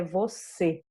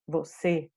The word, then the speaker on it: você: O som que ele provoca é fechado, né? Então a gente vai ter um som mais fechado quando ele aparece. É a sílaba mais forte onde ele está, mas o som é fechado. O exemplo que nós temos aqui, ó, é você, né? Então esse e vai ficar bem fechado.